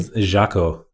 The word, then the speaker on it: Jacquôt: I like it today my special guest is Jacko Marshall let's pronounce it correctly Jaco jackal yeah Marshall you got it um Jaco